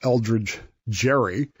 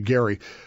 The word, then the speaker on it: Elbridge Gerry: We mispronounce his name regularly as Eldridge Gerry, and he is the guy for whom gerrymandering is named. Okay. But it's actually Gerry.